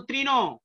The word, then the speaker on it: তৃণ: যেমন তৃণ, দেখো তৃণ তয়ে রিকার, হ্যাঁ এখানে উচ্চারণ কি হয়ে যাচ্ছে তয় রফলা দীর্ঘইকার, মানে কি রিকারের উচ্চারণ হবে কি রফলাযোগ দীর্ঘইকার।